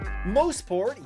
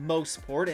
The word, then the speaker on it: Mosport: to know ahead of the Chevrolet Grand Prix mosport yes it's pronounced mosport and not mosport has a long history behind